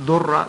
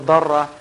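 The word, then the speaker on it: ضرة: Now, obviously, the word in Arabic for second wife is darra, sometimes mispronounced durra, but it's actually al darra.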